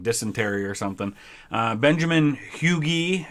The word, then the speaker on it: Huger: or something uh benjamin huge huge i mean it's weird it's not pronounced huger the way it looks uh confederate general as